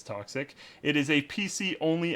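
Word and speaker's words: Toxikk: cool next up is toxic pretty sure I'm saying that right it's spelled t x i k k so pretty sure it's toxic it is a PC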